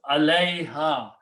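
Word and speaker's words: عليها: And when you write, you pronounce them together. This is pronounced alayha, upon them, upon the cattle.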